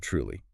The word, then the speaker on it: truly: Look at the word truly. Truly. It is spelled with a T-R, but in spoken English, it often sounds a bit like a C-H.